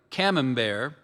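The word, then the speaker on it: camembert: Amina served a ripe came bear after the dessert course.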